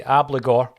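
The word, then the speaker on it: Abildgaard: Moy Turnbull McCarthy bernabe I'm going to say obligor because apparently that's how you pronounce it Maeda forest and Ralston we keep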